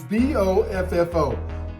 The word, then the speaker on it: Boffo: And today's word is B-O-F-F-O. B-O-F-F-O. So what they're telling me how to say it is Boff, like B-O-F-F. Oh, so Boffo.